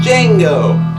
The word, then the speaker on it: Django: Franco Nero, the original Django. Who's the star of this one? You get it. Django, the D is silent.